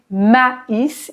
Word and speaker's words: maïs: manger à l'infinitif du ma is ici tréma sur le i pour bien différencier la prononciation pour ne pas dire mais mais maïs pour le